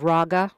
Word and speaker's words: RAGA: it up the organization is called Raga rhymes with MAA Republican attorney generals Association